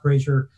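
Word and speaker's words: Brager: plug Kirstin brain brazier the last name spelled Br a ger but it's pronounced brazier she saw it I'm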